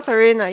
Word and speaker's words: Farina: Far farina. Is it Farina?